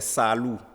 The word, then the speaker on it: Salou: Voilà, le prénom c'est Salou. Oui. Donc en Peul, ça s'écrit S-2-A-L-U. Oui, un peu comme c'est écrit là.